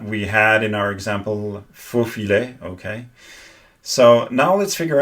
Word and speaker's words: faux filet: The thing is, in faux filet, she doesn't pronounce the I in French properly. The I in French for faux filet is not like in English, and it's supposed to be pronounced faux filet.